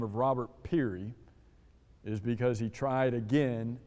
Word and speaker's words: Peary: name of robert uh peary i think is how you would say his name is spelled p-e-a-r-y you ever heard of